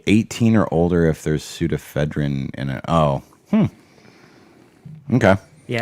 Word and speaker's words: pseudoephedrine: 18 or older if there's pseudoephedrine in it. Oh, okay. Yeah, it starts with a silent P.